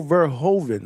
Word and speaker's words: Verhoeven: But yeah, Rico Rico Verhovven, right? That's how you pronounce his name.